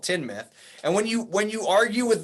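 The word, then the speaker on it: Teignmouth: Yeah, no, I want to call it Tyne, but it is Teen, and then it's called Tinmouth.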